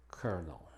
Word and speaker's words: colonel: Una gran excepción es que esta palabra se pronuncia colonel.